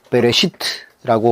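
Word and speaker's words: בראשית: 태초에는 히브리어로 베레시트라고 하는 바 발 발음인데이 말은 태초에 그러니깐 첫째날 그 이전으로 해석할 수 있습니다.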